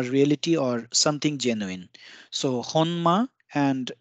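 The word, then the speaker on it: 本間: or something genuine so honma and it is pronounced also as Homa for the sake of easiness and this means origin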